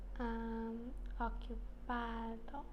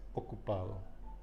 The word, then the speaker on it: ocupado: And busy in Spanish is ocupado.